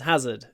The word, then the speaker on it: hazard: it's the same as Hazard it's a bit different and remember with Hazard stress on the ha ha Hazard hazardous you must open